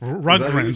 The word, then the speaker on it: Rundgren: I can't pronounce his name. Todd. What is Rundgren? it? Rundgren.